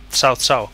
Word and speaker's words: Cao Cao: Oh, bueno, Cao Cao, que sería la pronunciación china.